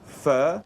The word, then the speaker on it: Pho: which actually fa PA it should be called fur correct it pronounced fur like how is Jamie